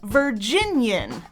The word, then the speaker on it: Virginian: For example, we usually say that a person from Virginia is a Virginian. 3 syllables each, like they do here. Virginians, 2 Virginians and an immigrant. Virginians. But sometimes, in a song, they add a syllable. Same word. Listen and count the 4 syllables here. Virginian, the venerated Virginian veteran. Virginian. It should be 3 syllables.